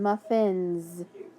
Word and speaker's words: muffins: Now listen, muffins. That S makes that Z sound too.